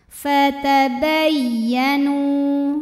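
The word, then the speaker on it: فَتَبَيَّنُوا: Fatabayyanu. Nu matobi'i zahiri, karena ada waw sukun didahului baris fathah.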